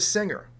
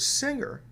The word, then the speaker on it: singer: a hard g and the word singer with a soft g that's a rule that